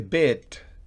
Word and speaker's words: bit: Es una pronunciación de la I intermedia. Ni beat, remolacha, ni bet, apostar, sino un intermedio. Bit, una I corta, bit.